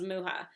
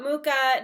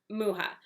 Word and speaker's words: Mucha: someone who is check how to say alphonse muha and it is alphonse muha not mucha not mucha muha so that's that's my